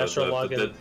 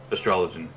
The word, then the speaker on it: Astrologian: Yeah, the Astro Login. The astrologian. Oh, you can pronounce it either way.